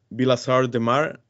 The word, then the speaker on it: Vilassar de Mar: Okay, Xavi, the first question I want to ask you is about, you were born in Barcelona, in Vilassar de Mar, if I pronounce that correctly.